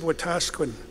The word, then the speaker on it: Wetaskiwin: was in Wetaskiwin a city of Wetaskiwin unfortunately mispronounced it's a Cree word with the ski win